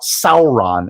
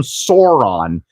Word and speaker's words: Sauron: It is the fault of essentially Chris McKay, the director, to let every single time Zach Galifianakis talks about Sauron and he calls him Sauron, that is not his name.